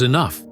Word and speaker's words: enough: "The word is enough, not enough. The gh is silent.